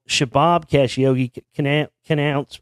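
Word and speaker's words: Khashoggi: Adan casii called shabab Cash Yogi can canoun uh pronounced cash oo by whatever that means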